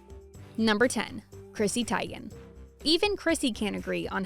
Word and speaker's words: Teigen: It's actually Chrissy Teigen, not Teigen, which is how her dad pronounces his own last name. Chrissy calls herself Teigen, so at least you can say you know how to say it both ways.